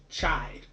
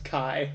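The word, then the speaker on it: χ: Kingdom a kingdom hearts chide as well as Kingdom Hearts try back cover I'm pretty sure let's pronounce Chi Chi yeah hi yeah X is the Greek letter Chi okay leave in part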